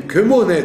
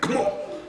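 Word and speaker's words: כמו נד: Nitsevu, kemo, voyez, on dit kemoned, on ne doit pas dire kmo, kemoned.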